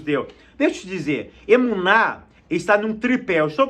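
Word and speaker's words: אמונה: A melhor palavra para fidelidade é uma palavra hebraica que se pronuncia emuná.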